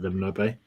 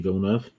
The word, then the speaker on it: Villeneuve: press anybody properly just some suits like football pronunciations of like villainous bay it's like so weird because i don't danny villeneuve we're 15 minutes in we've not a single